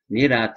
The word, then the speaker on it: nirat: Nirat is spelled N-I-R-A-T. Nirat, as it's pronounced, nirat, N-I-R-A-T, is, if there